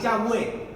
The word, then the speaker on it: Yahweh: Tiene las dos pronunciaciones. La más correcta no es Jehová, es Yahweh, es la pronunciación más correcta.